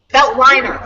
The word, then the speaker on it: Veltliner: Say that for me again, because I've been mispronouncing this forever. Okay, Betliner. Gruner Vetliner. Veltliner. Okay, thank you. People say built leaner, whatever.